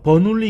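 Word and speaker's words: Bernoulli: 베르누이 방정식. 들어봤을 수도 있습니다, 여러분. 자, 영어식으로 읽으면요, 버눌리 이케이션이라고 합니다.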